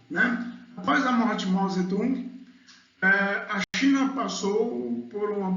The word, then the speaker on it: Mao Zedong: E Mao Zedong, né? A pronúncia correta.